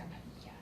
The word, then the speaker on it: Padilla: Padilla.